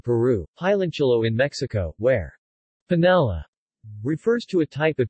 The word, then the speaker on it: panela: Panela, Spanish pronunciation, panela, or rapadora, Portuguese pronunciation, apadu, is